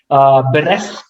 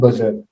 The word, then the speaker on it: berserk: So, for example, beresk is an incorrect pronunciation altogether for the word berserk.